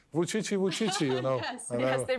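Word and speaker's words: Vučić: called 577 because yes, the pronunciation of your name, Vucici. Vucici, Yes, right, actually is the same with the numeral pronunciation of Chinese.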